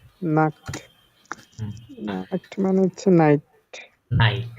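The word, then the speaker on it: Nacht: লিখেছিলাম জি এন দি আমরা কি লিখেছিলাম নাখট বানান করেন N আগে N A C A T নাক্ট নাক্ট মানে হচ্ছে নাইট নাইট হ্যাঁ ভেরি গুড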